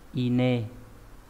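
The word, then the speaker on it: 稲: Ở trình độ N1 nó đọc là ine.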